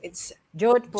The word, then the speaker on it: Jodhpur: I'm having fun, and I want to ask you how to pronounce this. Jodhpur. Jodhpur. Jodhpur. It's Jodhpur.